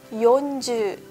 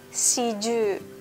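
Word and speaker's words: 四十: Jadi kalau 40 harus yonje, enggak boleh siju.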